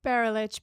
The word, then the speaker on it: Barulich: friend Natalia oh what's your last name it's Beryl itch but no one can ever pronounce it so I just go by Natalia